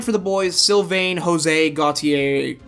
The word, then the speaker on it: Gautier: And then 9 for the boys, Sylvain, Jose, Gautier. Gautier? Yeah, Gautier. Not Gautier, the R is silent.